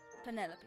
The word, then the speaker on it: Penelope: Officially, yes, but I never can be bothered with all 4 syllables of it. Penelope sounds a little ostentatious coming out of the mouth, don't you think?